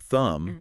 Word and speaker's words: thumb: So, like you could choose the word thumb. Yeah. And realize, okay, that B is silent because of the M ending.